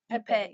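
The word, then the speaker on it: épée: Yeah, so today I learned that it's not EP, it's epee.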